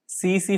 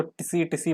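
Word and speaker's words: tsetse: Absent बोल रहा हूँ, टी साइलेंट होता है। सी फ्लाई, पहले मैं इसको टिसी टिसी पढ़ता था टिसी टिसी, सीसे फ्लाई, ये अफ्रीकन स्लीपिंग सिकनेस कॉज करते हैं।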